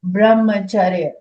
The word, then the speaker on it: brahmacharya: So this is called brahmacharya. It is pronounced as charya, but only C is written, but you can also write CH. Both are fine.